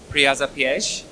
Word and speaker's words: piège: My next book, after I say it correctly, Piège, is a book called Close to Home.